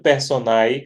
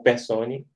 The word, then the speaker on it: personae: É um contrato mercantil, sinalagmático, oneroso, formal ou não, comutativo, intuito personae ou persone, como vocês acharem melhor a pronúncia em latim, de execução continuada, tendo por objeto uma obrigação de fazer.